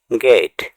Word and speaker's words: gate: GATE গেট মানে গেট। এখানে টি এর পরে ই লেটারটি সাইলেন্ট থাকবে।